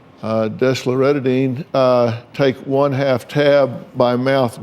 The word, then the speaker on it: desloratadine: nightly for your 12-year-old, and how do you pronounce this one? Desloratadine. Desloratadine, take 1/2 tab by mouth daily.